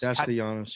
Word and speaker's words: Castellanos: Castellanos, yeah.